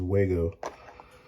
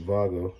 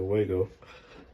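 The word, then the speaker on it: Wago: connectors are these these Wego I believe they pronounce it Vaga but I said Waco because I'm American and we normally butcher foreign names of things and these connectors are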